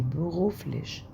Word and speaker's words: beruflich: was machen Sie beruflich. تعالوا بقى واحدة واحدة. هنا MACHAN MACHAN اللي هي MACHEN بالإنجلش. اللي تسيها دي بتنطق تمام، بتطلع فيها هوا كده كأنك بتطلع لسانك في سنانك كده وطلع تمام.